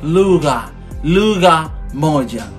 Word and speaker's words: lugha moja: Here is a little bit tricky. The pronunciation is lugha moja, one language.